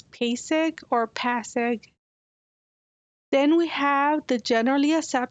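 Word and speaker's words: PASEG: also known with the acronym p-a-s-e-g pronounced as pasig or pass then we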